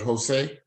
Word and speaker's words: Josue: l l o w did you say you pronounced that Jose okay yes sir all right I learned